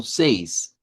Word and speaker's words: seis: C ese otra vez el mismo diptong e i que repito, creo que es más fácil verlo así como seis seis eh y si lo transliteramos al español, pues digámoslo así, este no tendría mucho campo, sería casi como lo decimos en español, así que no no tiene mayor dificultad.